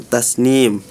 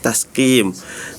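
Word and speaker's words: تسنيم: Terus juga di surah almutfifin wizajuhu min tasnim tadi kedengarannya min tasqim.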